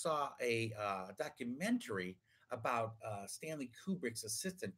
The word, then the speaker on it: Kubrick: standing family Kubrick yes that's how you say his name to Kubrick Kubrick Rubik's Cube Rick anyway too shiny so